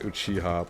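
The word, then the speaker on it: Uchiha: No, it's pronounced Uchiah, but the symbol of his clan is a fan, which I'm guessing is why the name's so similar.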